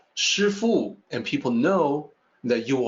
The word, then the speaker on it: Sifu: the driver of a vehicle you may say sir fool and people know that you are denoting profession